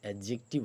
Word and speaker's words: adjective: एडजेक्टिव, अब याद रखिए, ये जो डी है, इसका प्रोनाउंसिएशन इस वर्ड में नहीं होगा। ये एडजेक्टिव नहीं होता है, इसका प्रोनाउंसिएशन एडजेक्टिव होता है। डी साइलेंट होता है।